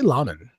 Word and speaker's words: Laman: How do you say your last name? I say Laman.